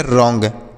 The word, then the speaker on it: wrong: WRONG, तो डब्ल्यू से पढ़ेंगे र, सॉरी डब्ल्यू साइलेंट होता है, इसे नहीं पढ़ते हैं, आर से पढ़ेंगे र और ONG को ओंग, तो यह लिखा गया रॉन्ग।